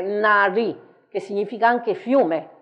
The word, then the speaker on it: Nadi: che si chiamano Nadi Qui abbiamo però la la la pronuncia che qui è Nari Eh è una è una d questa ma è diversa da quella che abbiamo visto prima quella di prima era una d Perugina questa qui è una d che